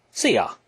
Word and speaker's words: szia: Actually, szia is like pronounced like see ya. You know, like a see you later.